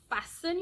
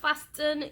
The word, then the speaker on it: fasten: oh there you go fasten your seat belts it is not fastin your seat belt those